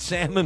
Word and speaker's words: salmon: If you can't get salmon in the store right now, and I don't pronounce the L, you can pronounce it if you want.